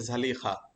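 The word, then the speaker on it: زليخا: তো বাংলাতে আমরা সাধারণত এটার উচ্চারণ হচ্ছে জুলাইখা নামে আমাদের এখানে প্রসিদ্ধ উচ্চারণটা, কিন্তু এর সঠিক উচ্চারণটা হচ্ছে জালিখা।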